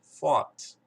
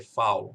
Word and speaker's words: fault: Porém, aqui é fault, não é a mesma coisa, não é fault. Você não vai dizer, aqui não vai ser foul, você não vai usar o OU nesse sentido.